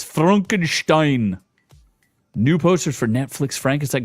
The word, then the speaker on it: Frankenstein: Next, we have Netflix's Frankenstein. They don't even say it right. They say, oh, is it Frankenstein? No, it's Frankenstein.